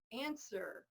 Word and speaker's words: answer: Yeah, again, the W's gone. Answer. Just forget about the W.